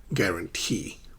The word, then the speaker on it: guarantee: Not photography, not photography, photography, and guarantee. Guarantee. You see how stress shifts from the primary syllable to the intermediary syllable and then the final syllable, guarantee. Okay?